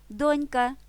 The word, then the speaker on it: донька: слові на перший склад ба більше на першому складі мають наголос і всі спільнокореневі слова донька доньчин донечка на цьому складі він